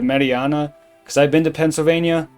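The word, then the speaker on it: Marianna: specifically in Marina Pennsylvania I'm almost certain it's pronounced Marina instead of Mariana cuz I've been to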